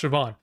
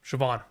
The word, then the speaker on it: Siobhan: So, it's just pronounced Siobhan. Yeah, because the the auh gh at the end threw me off. Siobhan, thank you.